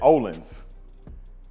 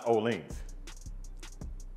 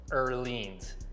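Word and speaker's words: Öhlins: before I start coming to oans I said olens Joy's like no it's oans it's oans right wa the actual proper Swedish way of pronouncing it is earin but oh the the o with the two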